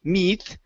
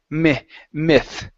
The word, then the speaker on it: myth: one here is myth so this Y is going to be a uh a short I sound instead of a long e okay so instead of me meth it's I myth myth okay good good all